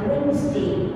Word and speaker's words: Wednesday: Nah, guru D-nya itu baca Wednesday.